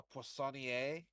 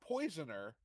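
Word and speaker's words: poissonnier: So for those of you who don't know a panier, that's not poisoner. That's a fish cook. They are a specialty in seafood because it's a French word that is spelled almost exactly like poison.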